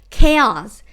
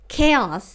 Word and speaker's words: chaos: อิตาลี เช้า แต่ มี คิด การ นี้ ว่า chaos chaos of contract trim the house คอนแทกเตอร์ สิ นะ